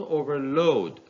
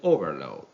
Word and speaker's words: overload: But if the same word played the role of a verb, the second part, or let's say the second syllable, takes a stress. Two examples are provided here. In the first example, the two-syllable word plays the role of a verb, so the second part is stressed. But in the second example, the two-syllable word plays the role of a noun. Therefore, the first syllable is stressed.